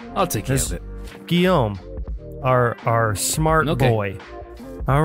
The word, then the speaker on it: Guillaume: I believe this is pronounced Guillaume, I think. I had to get him to help me pronounce it. Okay. You are now heretofore known. I'll take care of it. Guillaume, our smart boy.